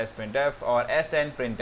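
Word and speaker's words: sprintf: When you want to convert a number to a string, we can use either sprint f pronounced sprint f or sn print f.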